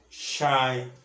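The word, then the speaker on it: sinh: it hyperbolic sign or we pronounce it as shine 2x so let y equals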